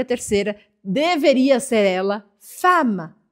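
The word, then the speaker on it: femme: terceira deveria ser ela fama fama se escreve Fema mas a gente fala fama por causa dos dois MS esses dois MS fazem com que o a Abra o som anterior e Fama significa ao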